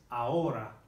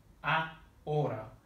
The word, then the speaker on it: ahora: Now the R here, between these two vowels, if we go back to what we learned before, the pronunciation is a little bit different from English. If we think of that word again, the way that the Americans might say butter, so they say butter, butter, that r, r is the Spanish R.